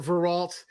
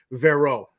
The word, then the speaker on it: Veralt: We pronounce it Veralt. It's been Englishized for a couple generations, but the French pronunciation would be Vero. Even our GPS says Vero.